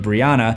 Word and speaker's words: Brianna: Anthony's girlfriend is named Breonna, spelled differently but pronounced the same as Breonna Taylor.